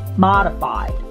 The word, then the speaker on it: modified: combination assumption assumption assumption modified modified modify the letter o you drop your jaw modified it's almost like a letter a but you drop it modify drop your jaw modified not modified modified transaction the